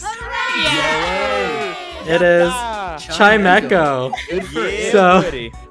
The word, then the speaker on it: Chimecho: And Yeah, it was Chimecho.